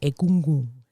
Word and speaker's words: Egungun: The Yoruba, I love when they pronounce this because it's egungun. Like almost like the N kind of like gets in your throat.